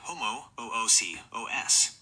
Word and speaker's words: homoousios: In original ancient Greek, the accent actually falls on the antepenultimate, third from the last, syllable, ou. This is written with an acute accent over the diphthong, ho-mo-ou-si-os. When pronounced with Greek stress, it sounds like ho-mo-ou-si-os.